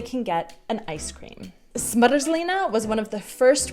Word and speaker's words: zmrzlina: Zmrzlina.